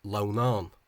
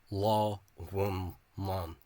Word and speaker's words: Lughnasadh: A Munster speaker would think from this misspelling in the Caighdeán that it's pronounced Lughnasadh with the stress on the second syllable. But this form is a lie, as are all Caighdeán Oifigiúil misspellings. The actual form pronunciation of the modern dialects derives from this 3 syllable pronunciation law-one-man.